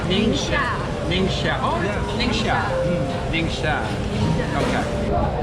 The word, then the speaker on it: Ningxia: So if you're ever at the, how do you pronounce the market name? NIngxia.